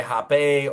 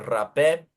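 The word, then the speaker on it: rapé: So you can say Hape or Rape.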